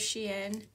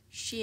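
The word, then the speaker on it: Shein: of Sheen she it I don't know how you pronounce it my daughter tells me every time Mom that's not how you pronounce it it's spelled like it sounds to me but I guess it's not it's she and look how cute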